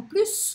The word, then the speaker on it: plus: Nous en avons plus que significa mais que, pronuncio o S.